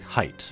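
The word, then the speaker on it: Haight: in San Francisco uh but here it is like height and thankfully the character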